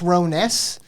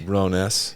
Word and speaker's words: Rones: That's pronounced Rones. But I'm not going to run around repronouncing it forever. Like, I'm just Actually, like, it's Rones.